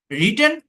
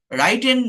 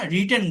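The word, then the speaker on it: written: রিটেন। রাইটেন বলবেন না, রিটেন বলবেন, ঠিক আছে? উচ্চারণটা হচ্ছে রিটেন, ড্রিভেন নট ড্রাইভেন, ড্রিভেন।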